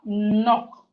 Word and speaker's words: knock: We have knock. Knock. Knock. So the K in knock is silent.